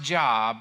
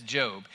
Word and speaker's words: Job: And if you thought it was pronounced Job, that's okay. Don't be down on yourself. It happens to the best of us. But it's actually, at least in English, we pronounce it as Job.